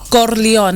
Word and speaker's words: Corleone: so uh rook and co leon how do you say it you got to say it like a like a mafia movie corleone like don corleone okay okay okay yeah